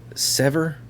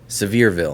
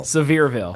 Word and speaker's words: Sevierville: I kept calling it Sevierville, but it's not that. It's Do you know how to pronounce it? I learned. what you said it earlier. I did. Sever, Nope. Severe, That's it. Sevierville.